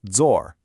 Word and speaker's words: 做: As you can see, it comes from the Chinese character 做, which is pronounced zor.